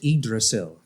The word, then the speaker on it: Yggdrasil: number six uh yeah so number six is pronounced idrissil so in norse mythology as you know i know that you've heard through the marvel stories and whatnot but the igdrasil in norse mythology is the the tree of